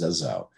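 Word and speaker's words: Rzeszów: It's actually pronounced Zezow. Zezow is down near the border.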